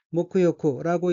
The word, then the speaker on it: 沐浴: 다음 어휘는 한자가 목욕이고 각기 머리 감을 목욕할 욕자이고 일본어로는 모쿠요쿠라고 읽으며 모쿠요쿠는 목욕이란 뜻입니다. 다음 어휘는 한자가 간호사이고 일본어로는 칸고시라고 읽으며 칸고시는 간호사라는 뜻입니다.